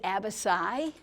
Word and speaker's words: abaci: Another plural for abacus is abaci. Double checked yesterday with pronunciation, and that C has kind of an S sound in that.